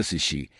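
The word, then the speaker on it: sídh: A palavra sid pronúncia Xi, refere-se tanto aos montes encantados, túmulos antigos que se acredita serem portais.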